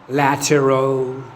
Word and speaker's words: lateral: 18 إلها نطقين، يا أما بثلاث مقاطع ونقول lateral. lateral. lateral. ونهاية المقطع الثاني اللي شوي راح نحذفه ونجيب هذا كله صير مقطع واحد ونقول هكذا lateral.